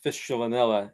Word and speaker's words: Fistulinella: Fistunella? With the Well, the new name that I proposed as a provisional name is Fistulinella, and that's based on the DNA sequencing of a collection from North Carolina.